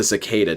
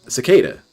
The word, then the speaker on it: cicada: a beetle right that loud thing it's a Secada DSP is that it right there is it chicata Beetle chicata cicada uhoh is is does he seriously think that's